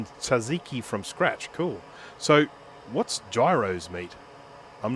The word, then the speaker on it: gyros: Is it pronounced gyros? Gyros? Because that looks to me, it's like it's spelt gyros, but I'm assuming it's probably like gyros.